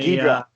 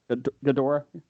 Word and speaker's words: Ghidorah: The, Ghidra. Ghidra. King, I never say it right. Ghidorah.